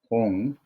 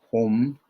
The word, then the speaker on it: hūṃ: And Om Ahong Benza Guru Péma siddhi Hong. Some say that Vajra, then they say home or hong. Either is okay.